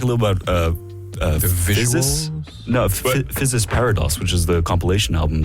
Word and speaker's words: Physis Parados: Physis Parados, which is the compilation album that SubCulture made. Did I pronounce that correctly? Physis Parados.